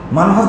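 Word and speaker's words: منهج: মানহাজ শেষে কি বর্গিত জ না ক?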